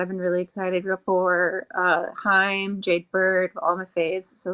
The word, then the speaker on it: Haim: Now that I've heard this said out loud, it's pronounced Haim.